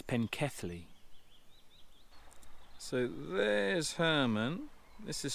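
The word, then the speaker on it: Pencelli: Yes, I've been mispronouncing this completely wrong. Not Pinkelly, it's Penkethly.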